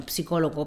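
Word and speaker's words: psicólogo: questa parola della psicologia perché la p davanti alla esse non si legge qui investirà soi psicologo ozsoy si colloca quindi sono psicologo psicologo oppure il trap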